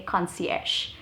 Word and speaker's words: concierge: the concierge desk okay concierge try and use it i'm sure you must have seen the word written it's spelled in a very different way but that's how it is pronounced difficult but fancy next